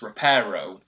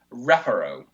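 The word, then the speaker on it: Reparo: on the anti-penultimate syllable now in raparo the second syllable does not have a long vowel and it's not closed thus you should go on the first syllable rapper but yeah apparently 11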